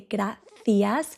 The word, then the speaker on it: gracias: So, gracias. It depends where you are, but where I'm from in Spain, in midspain, we say graas. So, the Z and the I is the.